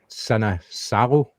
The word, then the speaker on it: Sinisalo: But to be fair to, I'm going to get this right here, Sinisalo, because I always get that name wrong.